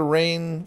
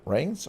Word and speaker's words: reins: of taking up the reign for reins or rings. How do you say it? Rungs, reins, Reins, Reins. like you're steering a horse.